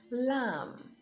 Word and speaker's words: lamb: Now, the B is silent when it comes after the letter M. So you have comb, climb, thumb, dumb, even in plumber. So it's not plumber, plumber, lamb, climb and not climb,